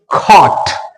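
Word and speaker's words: cot: खट यहां पे देखिए सी ओटी इसको हम पढ़ेंगे खट खट तो सी के बाद में ओ आया तो हम इसको कैसे पढ़ेंगे ये देखिए ये इसका सिंबल है इसका सिंबल ये है ऑ ओ नहीं ऑ तो हमने क्या पढ़ा इसको ट ऐसे ही सीओ यू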